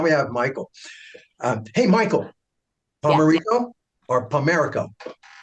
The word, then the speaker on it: Pomerico: Hey, Michael, Pomerico or Pomerico? No, you said it right the first time. Pomerico.